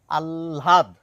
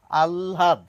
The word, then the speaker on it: আহ্লাদ: বলার চেষ্টা করছি এবার আলহাদ তাহলে তাহলে এ পর্যন্ত যদি ঠিক হয় আল এইটুকু কি ল এর সঙ্গে একটু হ মেশানো থাকবে ল নয় ল এই